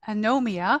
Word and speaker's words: Anomia: ghost writing workshops and readings Jade's debut novel anomia a adapted from their governor General's gold medal